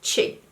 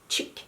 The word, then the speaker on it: chic: seems chick chick chick so you say that like it's chic chic thing hmm how do you say it it's chic chic that's why I said no chick is like chic chic that's how I say it in Swedish chic that something is